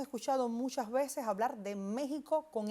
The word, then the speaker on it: México: Yasmina y es que esa X la pronunciamos como J. Hay otros dos topónimos que tienen esta misma característica y es el caso de Texas y el caso de Oaxaca. Uno en Estados Unidos y otro también en México. Y esta X suena entonces como J en esos tres topónimos arcaizantes, o sea, topónimos que en un pasado mantuvieron esa X etimológica y su pronunciación es como J.